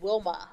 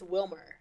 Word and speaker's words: Wilmer: trash shows oh bro you said Wilma it's Wilmer um okay um second question